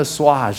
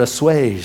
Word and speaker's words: assuage: I got to assuage, or assuage is what I've been told it's actually pronounced.